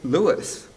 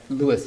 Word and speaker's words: Louis: I guess it's of interest to say that at the very beginning, Armstrong sings the song and says, "Hello, Dolly. This is Louis, Dolly." So maybe that's some evidence that Louis is his preferred pronunciation.